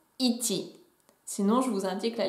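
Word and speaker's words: 一: Si vous savez déjà compter en japonais, vous saurez qu'il se prononce ichi.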